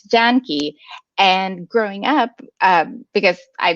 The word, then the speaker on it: Janki: And so technically, so my name is supposed to be Janaki, but it's Janki.